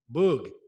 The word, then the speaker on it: Boog: that's his nickname right is that right bug boog i gotta pronounce it right boog all right boo so